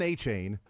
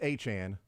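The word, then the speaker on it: Achane: a chain because it was like Deon a chain and then it was like no actually it's achan okay then it's Devon H Chan okay so now we got it right we were pronouncing both of them wrong just like we were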